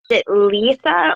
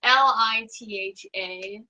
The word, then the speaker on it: Litha: Is it Letha, or how do you pronounce that? Litha. I'm saying it wrong too. It's Litha.